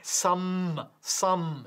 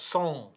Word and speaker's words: some: Recuerda, esta M, some, not song.